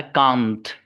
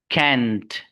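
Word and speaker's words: can't: इसके दो प्रोनाउंसिएशन है। पहला है कांत, इस्तेमाल होता है खूब, कांत, कांत, कांत। एक है कैंट, तो कैंट भी पढ़ सकते हैं और कांट भी पढ़ सकते हैं।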